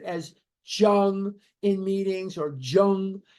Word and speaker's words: Jung: Jung in meetings or Jung. It's Jung. The J sound does not exist in some languages, and the J is pronounced like a Y.